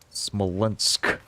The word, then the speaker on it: Smolensk: Say it like Smolensk with a very strong K.